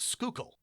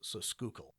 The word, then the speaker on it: Schuylkill: Schuykill, and it's pronounced Schuylkill. The Schuylkill. Schuylkill, or Schuylkill. The OO is pronounced like you would with food or ooze, so Schuylkill.